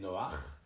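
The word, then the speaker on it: נֹחַ: y eut l'homme triste qui en français porte le nom de Noé il se souvenait du premier maître du bateau un jour il s'interrogea sur son nom qui en hébreu se prononcer Noah et signifier qu'il était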